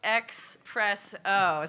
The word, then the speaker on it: Xpresso: Is it espresso or do you guys like it pronounced espresso? No, so it's Xpresso.